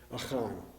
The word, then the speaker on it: Achan: And Achan is actually named Achan. Achan. Just like it's spelled up there.